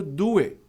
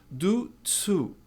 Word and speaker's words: due to: Tá cheio de gente por aí dizendo do it. Do it. Eu até entendo por quê. Do it, mas não é. É do. Exatamente a mesma pronúncia do verbo do. Do to.